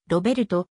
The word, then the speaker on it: Robert: は英語表記でドイツ語の発音ではロベルトまたはロベと表記する方がより正確であるが日本におい